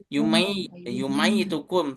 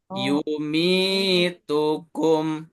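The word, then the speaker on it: يُمِيتُكُمْ: Yumi, mi kan kasroh. Kemudian ada ya sukun, maka mi-nya jadi panjang 2 harokat. Tidak boleh yumai tukum, tapi yumi tukum.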